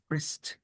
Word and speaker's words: Frist: And just to an important correction on the pronunciation, that's the Frist Center, not Oh, it First. I is know it Frist.